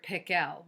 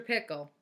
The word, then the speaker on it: Pickle: pickle actually his name was dr. pickle with the accent on the second syllable but that wasn't why everyone called him dr.